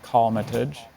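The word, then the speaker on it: colmatage: hi ananya hello your word is cometage calmatij may have all the information yes cometage has no alternate pronunciation that I can see it's just cometage it's a noun from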